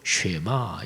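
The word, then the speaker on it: שמע: 히브리어 성경으로는 들으라 이 단어가 먼저 나오고 그 다음에 이스라엘아 이렇게 나오는데 들으라 이게 히브리어 발음으로 쉐마 이렇게 돼서 쉐마 구절이라고 하지요.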